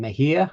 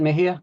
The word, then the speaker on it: Mejia: should have established Mindy your last name Mahia I'm assuming yes is it Mahia thank God uh I always blow